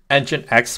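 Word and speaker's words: nginx: 8080 instead of 80 because um I uh engine X proxy yes I said it right finally um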